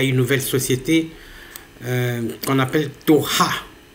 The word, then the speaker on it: Toha: Maintenant, il y a une nouvelle société qu'on appelle Toha. Je pense que c'est comme ça qu'il faut le prononcer. C'est T-O-H-A, la société Toha.